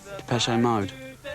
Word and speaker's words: Depeche Mode: And mode is just the word for fashion in French. Depeche Mode. And we just decided we liked the sound of that name. And we chopped off the accent and we just kept the pronunciation.